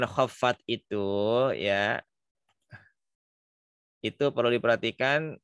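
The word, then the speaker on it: خفت: Nah, kata khaffat di situ harus jelas ngikut F-nya.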